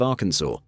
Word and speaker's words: Arkansas: That's exactly what happened in the state of Arkansas. According to title 1, chapter 4, section 104 of the Arkansas code, there's only one correct way to pronounce the state's name, Arkansas, with the final S silent.